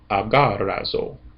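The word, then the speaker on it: ἀγοράζω: So zeta omega is going to make the last syllable. So this is actually a four syllable word. Aarazzo.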